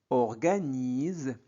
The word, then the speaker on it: organise: Au jour aujourd'hui la classe la classe de Paul a U se prononce O. Paul orgaise. Organise voyez S entre de voyelle se prononce Z.